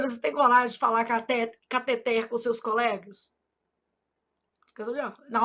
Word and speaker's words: cateter: Eu falo: "Júlia, você não é daquelas médicas que fala catéter, não, né? Porque sua mãe é professora de português, foi com esse dinheirinho que ela pagou os seus estudos. Então você vai falar catet, ela fica rindo."